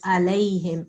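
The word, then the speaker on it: عليهم: Okay, and again here, the ayn of alayhim. Alayhim. I think you said anamta alayhim. This is wrong. Okay. When we must pronounce the ayn, and also how do you pronounce this part?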